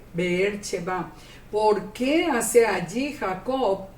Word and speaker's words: Beersheba: Que es como sería la pronunciación mejor en hebreo. Beersheba.